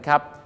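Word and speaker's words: coup: ก็ คือ อะไร ครับ คู c o ออก เสียง ว่า คู นะ ครับ คู มา จาก ภาษา ฝรั่งเศส คือ คู Data นั้น ครับ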